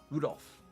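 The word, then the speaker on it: 留弗夫: That mess of characters is pronounced Rudolph.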